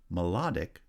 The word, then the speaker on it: melodic: on the first syllable melodic has stress on the second syllable parent has stress on